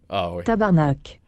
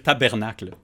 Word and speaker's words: tabarnak: devienne méchant très méchant tabarnak c'est parfait s'est pas fait c'est l'erreur qui font souvent les français c'est de dire tabernacle faut vraiment mal le prononcer non mais jamais entendu